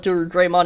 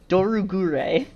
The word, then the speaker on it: Dorugreymon: And yes, I will call it Dorugreymon. It's spelt the exact same way as Greymon. I don't care if it's not a Greymon. Gure is hard to say. Gure. Dorugure. It's too hard to say.